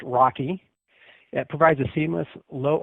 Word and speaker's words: RoCE: DMA over converged Ethernet or as is pronounced Rocky it provides a seamless